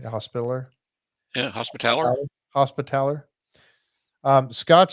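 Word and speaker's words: Hospitaller: were given to the knight's Hospital am I pronouncing that right hospitaler yeah hospitaler hospitaler um Scott says a hospitaler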